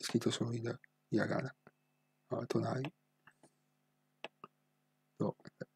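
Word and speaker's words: となり: Abbiamo detto che si pronuncia Tonari. Questa è lettura solo in giapponese. Quindi è una parola originale giapponese, non presa dal cinese. Allora, quindi è scritto solo in hiragana. Tonari.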